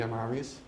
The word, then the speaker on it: Amavis: It's spelled Amavisd-new, D for demon. But in free talk, I usually say Amavis.